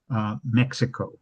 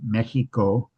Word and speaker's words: Mexico: Please explain your pronunci uh Mexico with a with a KS sound. Um the Spanish pronunciation Mexico um and which is what um is the current pronunciation from from the locals.